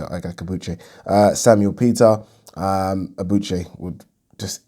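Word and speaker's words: Ike Ibeabuchi: And it's weird how people pronounce it. Ibiache, some people say. But in Nigeria, we say Ike Akabuche.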